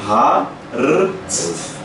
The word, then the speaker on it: hart: Então, Hart. Hart. Porque se eu colocasse um D aqui, ficaria o quê? Se eu substituísse o T com D? É forte. Forte. Então tem um hard, tem um hard.